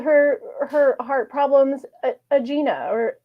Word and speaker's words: angina: it's okay soda called her her heart problems aen or angen we live in a world you can just pronounce things is angina okay you can just pronounce things however you